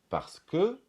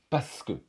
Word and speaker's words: parce que: par ce phénomène c'est le mot parce que qu'on prononce en principe parce que et on va prononcer parce que le R est supprimé parce que au lieu de parce que 6e chose à savoir